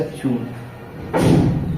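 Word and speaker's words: June: ठीक है, इसको हम पढ़ेंगे न, और इस लास्ट वाले हमारे ई का कोई उच्चारण नहीं होगा। ये इसके साथ मिलेगा तो क्या हो जाएगा, जून।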